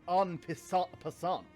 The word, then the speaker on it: en passant: Ah, so you know about the en passant move? It's pronounced en passant.